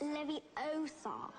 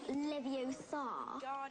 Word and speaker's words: Leviosa: some of iron besides you're saying it wrong it's Leviosa not live you saw you do it and